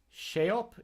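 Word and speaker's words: sceop: airstrike erstwhile he first shape is cognate whether word shaped the SC makes an SH sound so right you know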